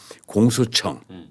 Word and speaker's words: 공소청: 기존 검찰청을 완전히 딱 짜갈라 갖고 하나는 공소청. 근데 거기 이제 발음이 우리가 중요해요. 예. 공수가 있고 공소가 있습니다.